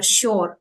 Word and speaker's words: shore: saw now this sh we don't pronounce R here Shore it should be sh along the shore